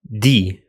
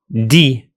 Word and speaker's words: دي: Just drop the initial ha sound of the Levantine forms. So هذا becomes da after dropping the ha at the beginning. هادي becomes di, di, and هدول becomes dol, dol.